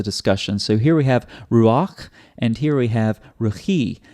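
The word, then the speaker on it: רוּחַ: That's why it's ruach, not rucha, because the vowel comes before the consonant.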